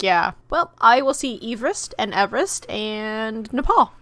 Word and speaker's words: Everest: impressive fun fact about everest everyone actually pronounces the name wrong how is the true pronoun pronunciation eve rest because it's named after a person whose last name was eve rest like together i see